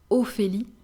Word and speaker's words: Ophélie: Letter O, we have Ophélie, Ophélie. PH is the sound F, F. So Ophélie.